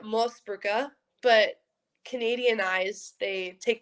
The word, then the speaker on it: Moosebrugger: we're on full names it's austrian and we say it most burka but canadian eyes they